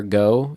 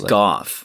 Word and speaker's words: Gough: Michael Gough, is it? Or Go? G-O-U, I guess. I think it's Gough.